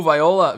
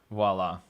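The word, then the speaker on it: voilà: I don't pronounce correctly everybody was saying voila voila yep yep oh Viola Viola yeah Viola did no we had the oh we had the O so it had to be voila see you ran yup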